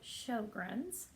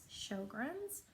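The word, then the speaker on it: Sjögren's: so the name of the disease is called Sjogren's I will spell it because it's kind of a strange word so it's sj-o GREs Sjogren's I'm gonna talk about it from time to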